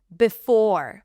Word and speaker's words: before: Before, before I forget, forget. Here it's not the or sound, it's a schwa. We don't pronounce the r.